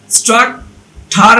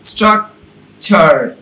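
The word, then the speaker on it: structure: তাহলে সেন চু না হয়ে হবে সেন চু রি, ফারনি ঠার না হয়ে হবে ফারনি চার, স্ট্রাক ঠার না হয়ে হবে স্ট্রাক চার, লেকচার না হয়ে হবে লেকচার।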